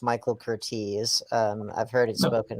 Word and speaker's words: Michael Curtiz: i have to correct you brandon it's actually pronounced michael cortese um i've heard it spoken about for god's